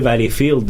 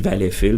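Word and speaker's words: Valleyfield: souvent vfield non plus puis arrêtait pas de dire valfield valfield puis moi dans dans Tun je dis Valfil parce que bon valallfil on souvent on prononce plus comme ça c'est le nom B c'est c'est Valfil c'est Valfil tu sais fait pour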